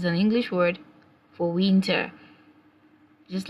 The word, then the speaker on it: Winter: In English, it's winter. In German, it's pronounced as Winter. Remember, in German language, the letter W is pronounced as V.